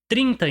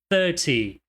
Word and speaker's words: thirty: Então, no número 30, a tônica tá somente na primeira sílaba.